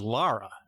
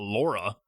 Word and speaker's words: Lara: No, her name is Lara. Like Lars Ulrich from Metallica, not Laura.